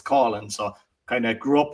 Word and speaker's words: Coughlan: Uh, Colin is the way I pronounce it. Like a lot of people would know it as Cotland because it's like even around Ireland and the count.